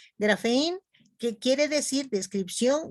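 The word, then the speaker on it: graphein: significa libro y grafen la p se pronuncia como F grafen que quiere decir descripción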